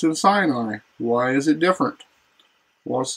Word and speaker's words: Sinai: B, Horeb, Horeb, and then Sinai isn't Sinai at all. It's Sinai, Sinai, Sinai, like an S-I-N, Sin, or S-E-E-N, Sin, and E-Y-E, like Sinai, like Sinai, not Sinai, as we're common to pronounce it in English.